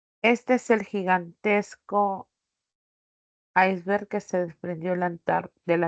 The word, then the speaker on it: iceberg: Este es el gigantesco iceberg que se desprendió de la Antártida. Este es el gigantesco. Acá ya saben que los demostrativos no llevan tilde, ¿no? Ni como pronombre ni como determinante. Esta palabra iceberg, que viene del inglés, ¿no?